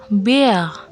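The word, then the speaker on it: Bär: Nah, di sini ada a umlot dibaca e. Kalau dalam kata dibaca bear. Bear artinya beruang.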